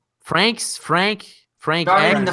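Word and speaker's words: Franxx: Frank so many question the last X is silent you don't pronounce as just Frank's how do you know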